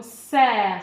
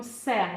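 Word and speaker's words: cerf: Attention, c'est le mot serre. Vous vous souvenez, le F ne se prononce pas. On n'a pas de petit E pour le faire chanter. Donc, c'est le mot serre, vous savez, l'animal.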